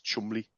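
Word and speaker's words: Cholmondeley: or Duke or something it's Chumley you pronounce that yeah not different I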